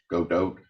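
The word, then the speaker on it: Godot: lots of ways um I usually go with something I guess like French pronunciation the t is dropped off the end but it's been a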